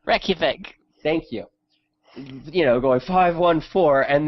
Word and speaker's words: Reykjavik: I can never pronounce the name correctly. Reykjavik.